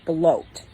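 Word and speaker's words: blót: in heathenry are called blot but it is pronounced bloat and symbol which is pronounced sumble Heathen groups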